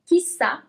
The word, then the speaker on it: chissà: Here you have an accent at the end as well. Chissà.